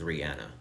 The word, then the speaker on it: Rihanna: she has said several times her name is Rihanna but anyway Def Jam Rockefeller had three people